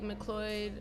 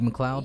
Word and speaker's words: McLeod: right um it's like mccloyd mcloyd road lb mcleod yeah mcleod i said it wrong mccloyd mccloud tomato tomato